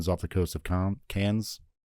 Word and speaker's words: Cannes: the French don't pronounce like the last letters in a lot of things, so I think it's like Con or Can.